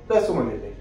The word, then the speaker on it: Rashomon: একটা নির্দিষ্ট ওয়ার্ড আছে যেমন আমরা আজকে শিখলাম রসমান ইফেক্ট আপনাদের যদি এটাকে একচুয়ালি প্রোনাউন্সিয়েশন হয় রেসিম ইফেক্ট যদি আপনাদের যদি ভিডিওটা